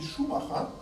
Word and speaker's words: Schumacher: Schumacher. That's the German pronunciation. Schumacher or Macher or something is what the English call it, because they can't pronounce Schumacher.